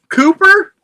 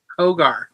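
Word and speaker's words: Cogar: Atticus Cooper, which what'd you call him? Cooper? Is that not how you say it? Kogar.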